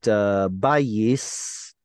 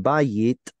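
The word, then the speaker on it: בית: I was just talking about bayis in the Ashkenazi tradition, bayit. It has a tav with no dot in it. In Sephardic tradition, tav with or without a dot, it's pronounced the same. But in Ashkenazi, tav with a dot is t, and without it is s.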